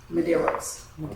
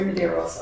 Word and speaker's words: Medeiros: I do apologize and the correct pronunciation is Medeiros so it's Maderos I'm the new manager